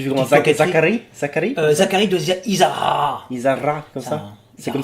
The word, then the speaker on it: Izarra: J'aurais roulé R final à votre place. Tu fais comment? Zacharie? Zacharie de Isara.